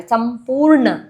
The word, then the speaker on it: संपूर्ण: कुषमांडा सुर संपूर्ण संपूर्ण एन कैपिटल व्हेन यू से न योर टंग टिप एस अपर पैर संपूर्ण कलशम रुधि धी स्ट्रेस